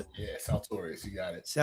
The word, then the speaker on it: Saltorious: Is that how I pronounce it? Yeah, Saltorius. You got it. Saltorius.